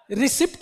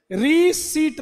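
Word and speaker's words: receipt: हाँ, रिसीट, ये noun, रिसिप्ट नहीं बोलते इसको, रिसीट। देखो, अरे इसको क्या पढ़ते हैं, रिसीट, और इसको क्या पढ़ते हैं, रिसीव।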